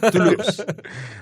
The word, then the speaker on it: Toulouse: Es la OU, se pronuncia igual que nuestra U. Así que no hagas esfuerzo, Toulouse. Porque te veo ahí complicado. Toulouse.